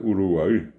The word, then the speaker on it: Uruguay: Podemos ir un poco más al sur y vamos a encontrar que está la República Oriental del Uruguay, que bien pronunciada la palabra es Uruguay.